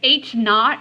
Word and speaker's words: H naught: you denote them with H Sub Zero okay H naught is how you say it so the null hypothesis